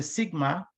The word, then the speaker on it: Sigma: this guy this the sigma deviation the way you pronounce the one over here you pronounce it as Mu this one Ison as Sigma I know if you remember